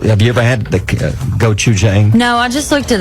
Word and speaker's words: gochujang: You may know how to pronounce this. I do. Okay, how do you say it? Gochujang.